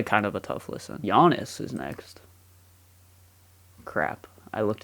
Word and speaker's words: Giannis: silence like Giannis obviously the G in Giannis is silent with how you pronounce it I feel like